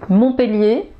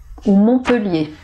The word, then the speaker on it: Montpellier: rapport aux 1,1 donc alors est-ce qu'on doit prononcer et où eux et bien en fait ici les deux sont possibles donc vous pourriez prononcé mon peut lier même si vous avez deux est normalement avec deux ailes ou devrait dire et mais là c'est admis voilà donc on peut dire les deux montpellier montpellier montpellier ou